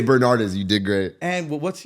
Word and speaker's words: Bernardez: So here we are, my guy, Bernardez.